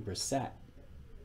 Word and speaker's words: Brissett: I do believe that's how you pronounce his name, Brissett.